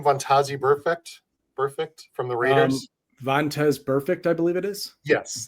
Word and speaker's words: Vontaze Burfict: So one I don't have video for, there was an interview with, how do you pronounce his name? Vontaze Burfict from the Raiders. Vontaze Burfict, I believe it is.